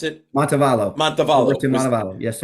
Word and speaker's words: Montevallo: Was Montalvo? Is that how you pronounce it? Montevallo, Montevallo.